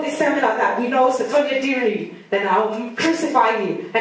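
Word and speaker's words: Sotonye Diri: name, it's from this seminar that we know Sotonya Diri, then I'll crucify you. Her name's Sotonya Diri. Sotonya Diri.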